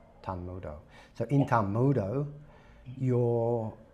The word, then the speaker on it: Tang Soo Do: Tang Soo Do. S O O D O Tang Soo Do. Tang Soo Do. So in Tang Soo Do your How do How does the grading work there?